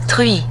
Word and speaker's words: truie: Truie. So truie, T-R-U-I-E, which is very unfortunate because you don't really pronounce the vowels in French.